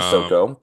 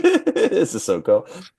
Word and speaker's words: Sissoko: I think it's Sissoko. Um, Sissoko, thank you. but that was fine. Thank That you. was a fine pronunciation. Sissoko.